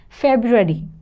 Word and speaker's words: February: which is silent environment next we have February February so the correct spelling is are you generally people don't write this are let me know in the comment section how many you are you were writing it wrong or you were saying them wrong it's February next we have 40 40